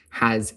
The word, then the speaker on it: hath: tells young students that although we write the word hath and doth, we pronounce them as if they were written with an S, has and does.